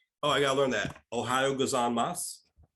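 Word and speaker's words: おはようございます: I gotta learn that Ohio gozan Moss Ohio gozaimasu Ohio gozaimasu Ohio like the state right right and ends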